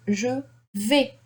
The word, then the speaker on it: vais: I don't pronounce the S, okay? The A-I. In French, it is A, okay? V. The S is not pronounced.